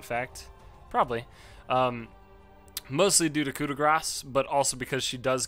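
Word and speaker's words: Coup de Grâce: and then of course kuda grass and yes you do pronounce the c e at the end this spell is very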